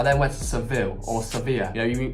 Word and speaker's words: Sevilla: You know, in the English language, it's called Seville, or that's how I pronounce it, and they haven't got a clue what that means. You say, can I get a taxi to Seville? They look at you, like, what is that? Then it's Sevilla, that's how they pronounce it anyway.